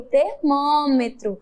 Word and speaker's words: termômetro: Aparelho usado para medir a temperatura é o termômetro, este aparelho aqui, o termômetro. Observe que ele termina com a vogal O e tem o som de U, igualmente como o cavalo, que nós acabamos de ver.